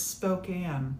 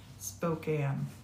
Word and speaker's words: Spokane: Oh, Nene, we are having it's Spokane. Thank you for that, Pam. Spokane.